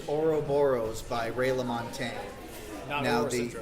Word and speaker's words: Ouroboros: me if I can't pronounce it but it's Ouroboros by Ray LaMontagne now the or horse or aura Boris yeah or Boris that's it by Ray LaMontagne it's a very